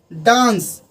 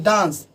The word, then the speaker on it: dance: फिर अगला डांस, DANCE, डांस। लेकिन लोग अगर कहेंगे, अगर ई का उच्चारण अगर लास्ट में करे तो डांसी या डांसे बोलेंगे तो वो गलत हो जाएगा। इसका उच्चारण जो करेंगे वो डांस की तरह।